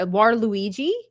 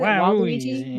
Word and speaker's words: Waluigi: I was pretty inspired by War Warluigi. Is that how you say it? Waluigi.